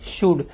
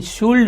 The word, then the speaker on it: should: आज का ग्रामर है शुड, SHOULD। इसके स्पेलिंग में एल आता है लेकिन शुल्ड नहीं बोलना है। कुछ लोग शुल्ड बोलते हैं, आपको शुड बोलना है।